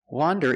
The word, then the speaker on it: wander: Wander is pronounced with a short o sound, the sound ah, like you hear in hot and stop.